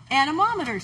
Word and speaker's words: anemometers: on anomers which are anemometers you can actually say that word pretty easily if you put the syllables on your fingers anomers anomers okay um